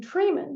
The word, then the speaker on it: Treiman: It can even be spelled with the letters EI, like I mean in Treiman. That's pronounced as "ee," and, there, the spelling is EI.